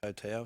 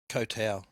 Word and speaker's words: Koh Tao: For all of August I was in Thailand playing on an island in Gulf there called Koh Tao.